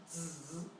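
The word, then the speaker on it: 子: Here, this character means child, and it's pronounced zzz. Okay, that might sound a little bit weird.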